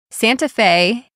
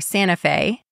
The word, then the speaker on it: Santa Fe: Santa Fe, or Santa Fe, is famous for its vibrant arts scene.